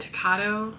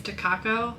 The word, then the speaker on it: Takako: I think I said Takato. I think I mispronounced her name earlier. It's Takako, so sorry.